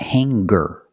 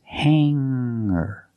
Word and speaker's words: hanger: clothes on a hanger remember Hangar does not have a hard G sound it's not hanger it's it's hanger make the sound in your nose and then hanger I